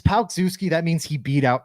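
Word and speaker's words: Palczewski: It's like Pal, like your friend, Palk Zuski.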